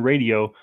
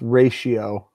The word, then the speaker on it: ratio: best touchdown to interception radio when time to throw is less than two and a half seconds the T is not pronounced it's its ratio not radio noise ratio which NFL